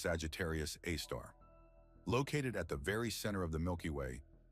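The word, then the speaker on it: Sagittarius A*: The Milky Way, our home galaxy, is home to an immense black hole that has earned the name Sagittarius A, pronounced Sagittarius A star.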